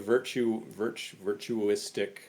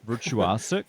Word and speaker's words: virtuosic: So speaking of virtuistic, how do you say that word? Virtuosic.